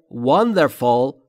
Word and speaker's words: wonderful: دقت بکنید تلفظش رو. Wonder. تلفظ W لبها حالت بوسه. Wonder و fall و نه fool.